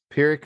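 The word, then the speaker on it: Pyrrhic: four song EP and I think you pronounce this word perck peric Victory is the name of the EP perck being spelled py r r h i c you know who days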